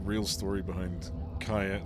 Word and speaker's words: Cayenne: not the same person kayen it's it's spelled with a c but yeah it's Cayenne Cayenne yeah the 3D FF